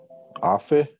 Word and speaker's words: afe: Okay, Kainoa, how do you say this word right here in chat? Afe. Afe. Very good.